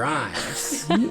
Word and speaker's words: Ijames: Today, I am joined by Major Ijames, or as most pronounce, Major Imes. But when you see it spelled, it looks like Ijames.